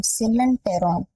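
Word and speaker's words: coelenteron: Silent ट्रोन Tron नहीं बोलेंगे टेरोन बोलेंगे। सिलेंटेरोन सिलेंटेरोन होता है।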